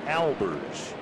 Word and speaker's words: Albers: And he said, yes, the proper way to pronounce his last name is Albers. Al, the first name.